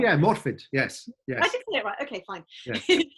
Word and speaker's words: Morfydd: yeah, Morfydd.